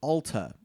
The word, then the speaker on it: Alta: Now, for those of you not local to Utah, I've heard several of you refer to it as Alta. It is not Alta. It is pronounced Alta. It is an Alta.